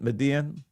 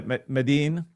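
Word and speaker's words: Medellín: Her entire family and extended family live in one apartment in um Median. Is that how you pronounce it? Median. Meden. Yeah. Meden. Yeah.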